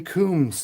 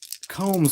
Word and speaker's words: Combs: that Rockwood told me don't say Coombs it's Combs like combing your hair fast break Middle Lane